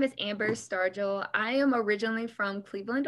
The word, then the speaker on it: Stargell: Amber Stargell, soft who is- Soft G.